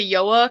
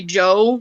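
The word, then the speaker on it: João: do oh oh yeah i have people who say yoa because they think it's like just like that the j is pronounced like a y or people who just say joe like okay that works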